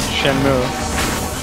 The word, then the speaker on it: Shenmue: sure he's not also i honestly have never heard anyone pronounce it the way you just did i only ever heard it called shenmue but i mean the